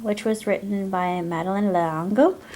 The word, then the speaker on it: L'Engle: was written by Madeleine L'Engle I do believe that's how her name is pronounced as a French name uh it says here